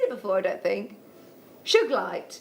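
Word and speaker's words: Sugilite: before i don't think suge light sugar light so it hasn't got a soft g like our good boy ben said have you seen sugar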